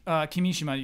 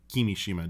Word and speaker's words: Kimishima: Basically, the basic rule is yeah. equal emphasis, but that basic rule isn't always applied.